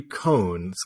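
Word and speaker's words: koan: which is the Poetry cones cone k-o-a-n Mark uh insists on a different pronunciation so which uh is the Japanese and American pronunciation but it's a great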